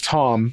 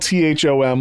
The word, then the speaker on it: Thom: Uh, it's spelled T H O M, like Tom York from Radio Head, but John had never heard of that spelling before, seeing it spelled like that. So, he thought the guy's name was Thom the whole time.